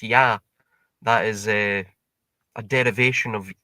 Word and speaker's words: Ea: So Ea is in Akkadian pronounced Ya.